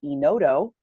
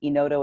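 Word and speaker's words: Enodo: in the big fan of a product called Ino dough it's automated underwriting that's a web platform in odo is spelled en oh do we have partnered with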